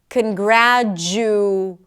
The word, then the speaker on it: congratulate: Now, intuitively, you want to put the oo sound because it's there in the spelling. But what happens if we reduce it? Does it really mess up the pronunciation? Congratulate. Congratulate. Congratulate. Does that make sense? Can you reduce it? If the answer is yes, you can reduce it and it doesn't mess up the pronunciation so much, it's probably a schwa.